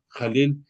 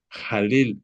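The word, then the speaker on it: Hallel: Jalel se pronuncia con J, se escribe con H dentro del hebreo. Jalel, H-A-L-L-E-L.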